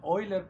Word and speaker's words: Euler: cuarteto muy muy bueno el oiler cuarteto que se escribe Euler como el el matemático hoy leer cuartet y